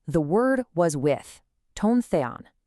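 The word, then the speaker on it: τὸν θεόν: The first part says, "The word was with tone Theon." That's pronounced tone the on.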